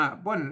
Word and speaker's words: เปิ้ล: นะ ครับ เปิ้ล นะ เปิล เิล ออก เสียง ว่า เปิ้ล นะ ครับ เปิ้ล อ่า เปิ้ล